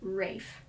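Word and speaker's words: Ralph: wife ursula von williams pronounced his name rafe and any other pronunciation infuriated him so rafan williams composed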